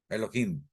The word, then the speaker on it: Elohim: Elohim. Sí, se pronuncia como J, no Elohim. No, Elohim no. Elohim. Es la forma correcta de pronunciación.